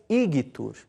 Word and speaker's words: igitur: O nosso G tem sempre o som que o G usado na palavra gago, tá? Nunca o som de G na palavra gente. A palavra igitur, por exemplo, se pronuncia igitur. E legio se diz legio.